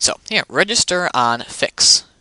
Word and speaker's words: FICS: so here register on fix you pronounce the fics fix just to be short